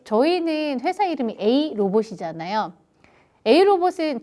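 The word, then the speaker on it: AeiROBOT: 회사 이름이 a 로봇이잖아 a 로봇은 저희 회사 철자를 잘 보면은 aei 로봇이에요 그럼이는 발음 끼웁니다 그러면 이걸 발음하면 a 로봇이 돼요 어 로봇이에요 그럼 로봇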